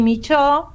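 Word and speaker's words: Michaux: mirada del antropoceno que es Henry Mich se escribe Micha porque no mandé foto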